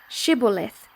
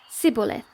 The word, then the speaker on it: Shibboleth: Then they would say to him, "Then say, Shibboleth," and he would say, Sibboleth, for he could not pronounce it right.